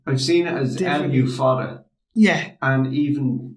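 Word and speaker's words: Lugh: Now, spell Lu. L-U-G-H. Okay. Lu is how we pronounce them here, but I'm sure he would have been pronounced. I've seen it as L-U fada.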